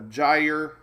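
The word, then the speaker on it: gyre: this is called a gy rhymes with Tire I don't know how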